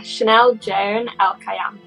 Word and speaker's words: Chanel Joan Elkayam: I have a very amazing and special young lady as my guest today, Chanel Joan Elkayam. Is that the right way to say it? Yeah, Chanel Joan Elkayam.